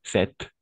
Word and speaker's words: sept: ah, si, sept, Sí, sept. Ah, attention, parce que on va, oui, sept, attention, sept y set. Tienen la misma pronunciación.